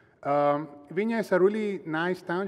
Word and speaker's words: Viña: pronounce that name, because you will see a fancy N which is pronounced Viña.